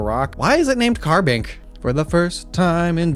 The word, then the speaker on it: Carbink: never heard someone pronounce carbink wrong. Not to say that you can't if you really tried. But uh it's carbon Carbink. Carbink. It's not ink. It doesn't stink.